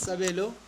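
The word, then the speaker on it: Sabelo: My name is Sabo. I'm an artist. I'm a painter. Graphic designer. S A B E L O. That's how you pronounce it.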